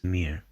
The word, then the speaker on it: Mirë: This letter represents a schwa sound, and you'll see this a lot in Albanian. But notice that it's reduced and almost not heard at the end of words. Mirë.